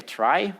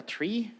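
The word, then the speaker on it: trie: data structure this options thing is actually a try or a tree uh depending on how you want to pronounce it.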